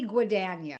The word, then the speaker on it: Guadagno: Her name is Betty Guano. Have I pronounced it right? You've said it pretty good. Yes. Who is it actually? Betty Guano.